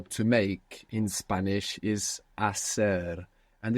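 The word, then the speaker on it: hacer: Spanish is AER and it has a silent h it's h a c e r so in most of Spain actually that would sound a but AER in most of the Spanish speaking world what verb type is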